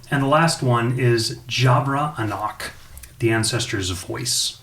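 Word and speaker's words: Javra Anoch: that way um and the last one is jabra enoch the ancestors voice spell it j-a-v-r-a a-n-o-c-h a female half alpha bard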